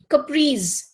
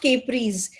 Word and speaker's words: caprice: Next, caprice and not capris.